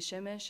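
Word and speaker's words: Przemyśl: And there you can see Siemisz is at the bottom, and that is how you pronounce the name.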